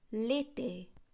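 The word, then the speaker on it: l'été: আমি বলেছিলাম ভাওয়েল দিয়ে শুরু হচ্ছে এমন কোনো শব্দের আগে আমরা ডেফিনিট আর্টিকেলস ব্যবহার করলে সেটি একত্রে উচ্চারণ করব, অর্থাৎ সেই ডেফিনিট আর্টিকেলসটি এবং ভাওয়েল দিয়ে শুরু হচ্ছে যে শব্দটি তার প্রথম অক্ষরটি, অর্থাৎ এই ক্ষেত্রে যেহেতু ই ভাওয়েল দিয়ে শব্দটি শুরু হচ্ছে তাই আমরা বলবো লেতে অর্থাৎ গ্রীষ্মকাল, লোতন শরৎকাল,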